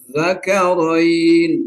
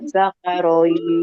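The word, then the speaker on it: الذَّكَرَيْنِ: Qul Allah, Qul Zakarain. Itu begitu bacanya di dalam Al-Quran tuh yang tertera. Zakaroin. Tapi boleh ibu baca dengan cara tashil. Kayak jamyun tuh. Qul Allah, Qul Zakarain. Boleh. Zakaroin.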